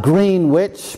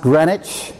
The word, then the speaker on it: Greenwich: It looks like Greenwich, but it's pronounced Greenwich, I assure you, just outside London.